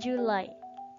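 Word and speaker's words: July: it is the way Juli itu bacanya telah julai tickets kemudian it is our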